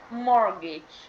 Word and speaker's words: mortgage: let's talk about mortgage the pronunciation is mortgage okay um she got